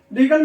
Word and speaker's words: regal: ई लगा हुआ है, REGALE, और यह क्या है? REGAL। ये रीगल है, ये रिगेल है।